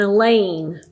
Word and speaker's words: Elaine: class or any class, and Elaine, rhymes with pain.